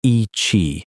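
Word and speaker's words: Yi qi: The species was named Yi Chi, pronounced ee chee, which means strange wing in Mandarin.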